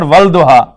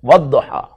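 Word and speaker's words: والضحى: It's not walduha, but wadduha.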